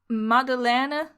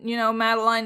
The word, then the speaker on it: Madeleine: Okay, so according to Google Translate, you would pronounce it like Madeleine. But, Madeline is probably just fine too.